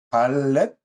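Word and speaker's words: דלת: 다섯 번째는 이제 해라고 하는데 읽을 때는 해라고 읽고 쓸 때는 네, 달렛 위에 있는 달렛처럼 쓰고 그 다음에 작은 작대기를 하나 써주는 겁니다.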